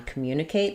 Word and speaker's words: communicate: So in communicate we actually stress on the mu syllable. So, that's a good one to look at because we have the M and Y sounds together. So, when we have letter U after M in words like music, um, communicate, we add in a little Y sound even though we don't have a letter to spell it.